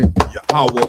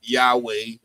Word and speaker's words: Yahawah: Yahawah and the Hebrews, right? That's the proper way to say the Lord's name. Yahaw, right? Not Yahweh.